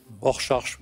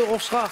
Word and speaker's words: Rorschach: fait, si on doit le non, mais si on doit le prononcer vraiment, c'est Rorschach.